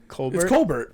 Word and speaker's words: Colbert: yeah english but like think about like uh stephen colbert it's b b r t colbert yeah yeah so that's them not pronouncing the letters they just don't have that they someone somewhere just decided hey that t yeah i don't like bert right i like bear bears are tough cold